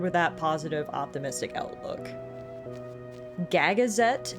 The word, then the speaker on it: Gagazet: Gagazette is the pronunciation, I think.